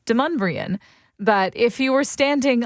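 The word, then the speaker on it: Demonbreun: It's Deumbrian. But if you were standing on Deumbrian Street 300 years ago, you might hear that name pronounced Dum.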